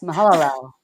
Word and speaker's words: Mahalalel: Yes, Mahalalel. Good job. I know, it's like, I don't even know if I'm pronouncing these right.